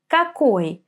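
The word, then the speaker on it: какой: the first word we're going to see here kakoy kak means which we use this question when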